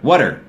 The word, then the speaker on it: water: แล้ว ก็ the Water Water What are you doing เหมือน จะ ออก เสียง เสียง ว่า W U D D E R Water